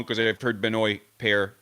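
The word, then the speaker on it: Benoît: to his ATP page I invite you to listen to the way he pronounces his name I'm hearing it as binoy I don't hear a Benoit I don't hear a Benoit at least not in an exaggerated way but yeah Benoit a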